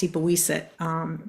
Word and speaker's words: Sipawisset: are in Wampanoag, and I saw a sign for Sipawisset, which would be properly pronounced Sipawisset, place of the little river or the brook.